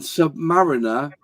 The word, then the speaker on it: Submariner: And Submariner is pronounced submarine with an R at the end, so Submariner, not Submariner.